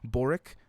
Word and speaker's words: Boric: new president gabriel boric in a historic shift boric i think that's how you say his name